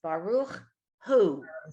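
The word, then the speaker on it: ברוך הוא: Baruch who, like who's on first, Baruchu. because the aleph is silent.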